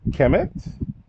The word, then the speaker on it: Kemet: So just let you know to pronounce the M at the end. This is Kemet.